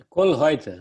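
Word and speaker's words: Koellreutter: Pronunciei certo, Tim? Kollreuter, né?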